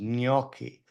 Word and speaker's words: gnocchi: G and N makes sort of a combined GN sound. It's so like the Enye in Spanish. It's like what? the Enye in Spanish. Exactly. So it's actually the proper way to say it is gnocchi, right?